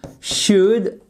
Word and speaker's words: should: attention à la prononciation should c'est toujours sans prononcer le l c'est pas he should